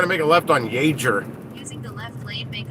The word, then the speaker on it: Yeager: make a left on yager using the left lane make a left turn now it's hider that's spelled y y-e-a-g-e-r that's pronounced jaeger like chuck yeager the the pilot i do that